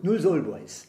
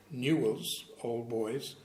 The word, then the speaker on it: Newell's Old Boys: You wouldn't know it was an English word. Newell's Old Boys.